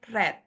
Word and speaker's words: read: Yang bentuk pertama bacanya read, yang bentuk kedua bacanya red. Seperti warna merah, red, seperti itu.